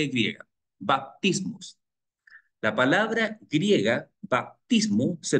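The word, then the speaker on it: βαπτισμός: abluciones, es la palabra baptismos. Hay texto en griego y la pronunciación en español. No en español, la pronunciación en griego.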